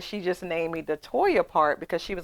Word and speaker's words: Toya: Now that you say that, my name is Toya, but people call me Latoya.